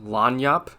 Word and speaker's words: lagniappe: Okay, I found out what Lagniappe is, and it's actually pronounced Lagniappe.